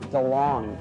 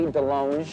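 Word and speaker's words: DeLonge: Gary's chicken and ribs I am Tom Delong but it should be Delong cuz I went to France and they said you're pronouncing it wrong I'm all DeLong know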